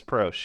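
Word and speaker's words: Proche: James Prosh, yes.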